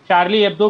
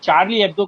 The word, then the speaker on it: Charlie Hebdo: आप उसे शार्ली एब्दो कहिए या फिर चार्ली एब्दो कहिए, प्रोनाउंसिएशन में बातें हो सकती हैं, लेकिन खबर मेन वहीं से निकल के आती है।